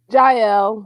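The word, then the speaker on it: Jael: Am I saying it right? JL? Yeah. Yael JL. in the Hebrew.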